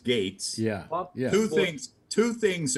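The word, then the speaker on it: Gaetz: by the way so matt gates his name is pronounced gates yeah who thinks two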